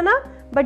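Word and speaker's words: nib: और N I B को क्या प्रोनाउंस करेंगे? निब.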